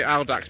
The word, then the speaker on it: Audax: 1966 Singer Gazelle, based on the Audax type of Hill and Manx. I say Audax because that's the way when I did Latin A-level they taught me to say it.